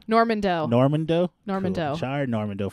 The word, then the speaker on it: Normandeau: Normandeau.